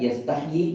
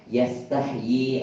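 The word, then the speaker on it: يستحيي: Malu itu dibacanya panjang ya, yastahyi ya. Bukan yastahyi bukan, tapi yastahyi ada ynya di situ yang ee menjadikan dia panjang.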